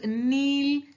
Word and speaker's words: knee: see it's pronunciation is nee K is silent kneel knelt knelt lay